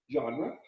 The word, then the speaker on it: genre: is the question of genre and yes it's a weird french pronunciation genre which is sometimes irritating